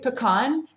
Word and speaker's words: pecan: I say pecan, and my uncle from North Carolina, who's very Southern, makes fun of me. He is such a darling man, but he'll say, "Oh, y'all want some pecans?" And he'll pretend like I'm all stuck up. But really, pecan is a normal way to say it.